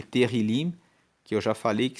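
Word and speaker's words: Tehilim: E Terrilim, que eu já falei que se escreve T-E-H-I-L-I-M, quer dizer louvores.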